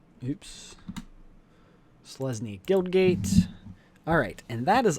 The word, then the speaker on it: Selesnya: And Silencia. Oops, I thought it was in. Did not spell that right. S-E-L-E. Oh, Selesnya. Oops. Selesnya Guildgate.